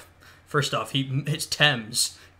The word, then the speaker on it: Thames: squeezing them out on the banks of the teams first off he hits Thames mispronounced that but there you go uh there's